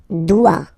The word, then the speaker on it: dois: Je dois. Okay, remember final S is not pronounced. Je dois. O-E, when you combine the two, you get the sound wa-wa-wa. Je dois.